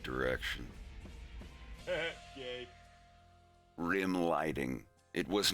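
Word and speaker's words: Рим: Yeah, it's actually how Rome in Russian is pronounced. Rim.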